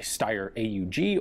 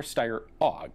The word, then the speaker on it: Steyr AUG: collection, specifically an STG-77, or a Steyr AUG, or Steyr AUG, depending on how you prefer to pronounce it.